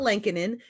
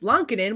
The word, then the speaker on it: Lankinen: when she told us that no, it's not Lankinen, it's Lonkinen, we both went, crap, we feel like dirt.